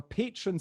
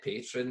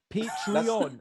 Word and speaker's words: Patreon: You said patron there. Patrons, yeah. That's going to freak people out, man. People send in messages about that. Patreon, is that how you say it?